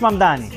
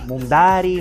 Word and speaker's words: Mamdani: Nadie sabe pronunciar mi apellido. Es Mamdani, pero a cada rato me dicen Mundari, Mumnari, y esto es algo que muchos inmigrantes Y tenemos.